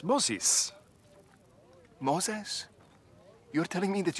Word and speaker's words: Moses: also pleased to meet you're not even saying it correctly it's Moses like Moes Moses that's what to say it look at my mouth Moses Moses sesis Moses Moses like POS wait where are you